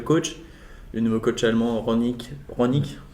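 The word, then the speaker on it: Rangnick: Le nouveau coach allemand, Ronick, c'est comme ça qu'on prononce.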